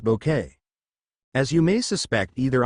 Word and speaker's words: Bucket: me of an evil Mrs bucket pronounced bouquet as you may suspect